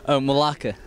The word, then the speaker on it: Melake: I have trouble pronouncing that. Yeah, lots of people do. Melake.